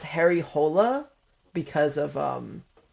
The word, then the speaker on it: Harry Hole: Um, I think it's actually pronounced Harry Hola because of um it's like Swedish or Norwegian. Um, but they pronounce it Harry Hole in the movie and